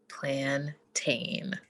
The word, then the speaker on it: plantain: It is, and let the record reflect for the last time, plantain.